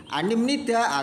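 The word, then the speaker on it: 아닙니다: Jadi pengucapannya anida itu rumus dasarnya anida nanti pengucapannya menjadi animnida atau ani yeyo.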